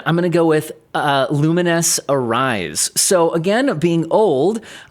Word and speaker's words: Lumines: And also it's, if you've played Tetris Effect, it's the same developers where for Lumines, I'm assuming it's pronounced Lumines, not Lumens, right?